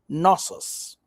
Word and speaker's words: Knossos: Greek mythology tells the story of Minos, ruler of the city of Knossos. That's how I'm pronouncing it.